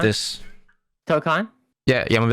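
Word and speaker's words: Tōkon: Tokkon, yeah.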